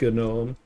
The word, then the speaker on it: GNOME: computer is called GNOME, and it's actually specifically pronounced GNOME because it's like, it's not called GNOME.